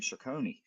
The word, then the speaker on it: Cercone: We have a special guest here today, Jason Cercone. I want to make sure I pronounce that right. I originally, on our pregame, I was calling him Cercone. So I got that right.